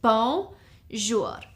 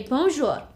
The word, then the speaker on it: bonjour: It's 2 syllables, bonjour. So you'd say bonjour.